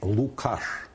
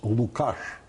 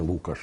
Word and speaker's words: Лукаш: Микола Олексійович Лукаш. Я повторюю наголос Лукаш, а не Лукаш, як дехто сьогодні чомусь звик казати. Зрештою, згадайте персонажа Лісової пісні Лесі Українки. Його звуть Лукаш, а не Лукаш.